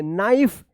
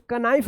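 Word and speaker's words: knife: नाइफ इसको कनाइफ मत पढ़िएगा।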